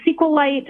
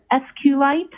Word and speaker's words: SQLite: It is capital SQL lowercase I t and SQLite uh is also commonly pronounced as SQLite.